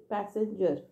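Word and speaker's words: passenger: को पैसेंजर कहते लेकिन यहां स्पेलिंग का बहुत इंपॉर्टेंट है पी ए जनरली पीए का साउंड इ पा है ना पर यहां पर पीए का साउंड इ पे पैसेंजर तो यह बहुत प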